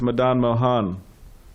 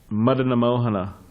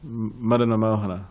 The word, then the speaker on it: Madana Mohana: And Krishna is Madan Mohan, right? He is the Madana Mohana. Sorry. Not anyways. Madana Mohana. Okay, sorry. That's the American pronunciation.